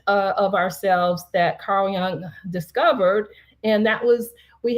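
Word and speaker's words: Jung: the uh famous psychologist Carl Young uh whose last name is spelled J u n g not y o u ng but he started this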